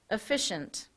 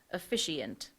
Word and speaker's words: officiant: this word has a homonym the word is efficient it is a noun meaning a priest or minister who performs a prescribed religious service or ceremony and I'm sorry I mispronounced it the correct pronunciation is officiant a priest or minister who performs a prescribed